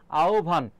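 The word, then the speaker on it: আহ্বান: তাহলে এইযে হ এর স্থলে কি আছে? দেখো ও আছে। আর এই যে ব এর স্থলে কি আছে? ভ আছে। আহবান। কি হবে বলতো? আওভান। নিয়মটা মনে রাখবা। আকার। এর পরে যদি হয় ব ফলা থাকে তাহলে শুরুতে হবে ও। তারপর হবে ভ। অর্থাৎ হ এর স্থলে কি হবে? ও হবে। ব এর স্থলে ভ হবে।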